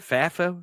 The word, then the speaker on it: FAFO: FAFO? FAFO? It is. FAFI? FAFO. Yeah, FAFO. Here's what I want the audience and maybe to convince other commentators of this, is that we can have FAFO.